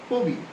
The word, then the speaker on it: কবি: অভিমান রবি ইত্যাদি একইভাবে কবি হবে না হবে কবি ছবি হবে না হবে